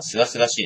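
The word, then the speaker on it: 清々しい: ルドで、清々しいって読むんだっけ？あ、すがすがしいですね。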